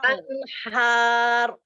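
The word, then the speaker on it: أنهار: anhar. Nah, rahangnya diangkat Umi, biar dapat roh tebalnya.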